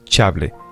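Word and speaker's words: Chablais: no había sino protestantes era si habláis se pronuncia chablé allí la gente les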